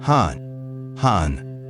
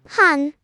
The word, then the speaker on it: 한: Han, one syllable, little one, and this country keeps 1,000 years of unfinished business inside it. Han, it sounds like an exhale that decided not to leave.